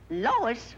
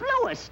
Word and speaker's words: Louis: Lois. Me name is Louis, not Lois.